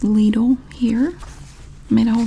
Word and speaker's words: Lidl: we have the ladle circular and it is pronounced ladle here I made a whole video about it